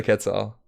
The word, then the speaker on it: Quetzal: That's the proper way to say Quetzal.